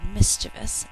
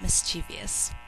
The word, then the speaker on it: mischievous: we're going to use the word mischievous not mischievious sorry for the confusion three syllables we're going